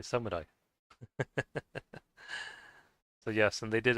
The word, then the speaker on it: samurai: Um, I know some people say samurai, uh, and, uh, you know, they usually say that, but if you want to pronounce it like the way the Japanese do, or at least how